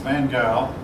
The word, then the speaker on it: van Gogh: the more famous paintings of the time were van gogh i've heard that name pronounced van gaal picasso now van gaal painted a whole lot